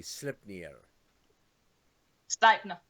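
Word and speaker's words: Sleipnir: like I always say slip sner sner yeah sner okay okay yeah that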